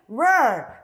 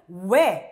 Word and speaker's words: where: 자, where은요 발음이 where 이음절이 아니고요. 이름절. 미국은 where, 영국은 where 이렇게 이름절로 발음해요.